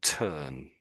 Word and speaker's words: turn: Although there's an R here, if if you listen to when I'm saying it, it it's kind of hard to hear.